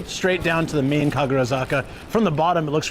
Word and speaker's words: Kagurazaka: right, let's go straight down to the main Kagurazaka. From the bottom, it looks really cool to look up. Oysters equals vibri vibrio. What is that? Kaguraka. Yeah, Am I saying it wrong? I think it's Kaguraka.